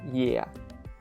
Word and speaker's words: е: would probably say, okay, imagine you're saying the word yes, but you drop the last sound. So you drop the s sound. So you're only saying the first part, which is something like yeah, yeah, right? If you drop s from yes, yes, you will only have yeah, yeah.